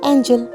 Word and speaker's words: angel: बट जे जी तो बाद कोई वाउल लैटर है तो ज साउंड, जिवें कि एंजल।